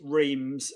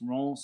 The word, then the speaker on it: Reims: Guer Grand Prix track, which is Reims for those of us in the UK, but it's Reims is pronounced.